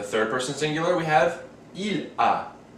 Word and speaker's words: il a: For the third person singular, we have il a. These two, although spelled differently, are pronounced exactly the same, a.